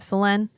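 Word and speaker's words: Célène: And Selene is made Selene. It's written Selene, Celene. But in French, you don't pronounce the last letter.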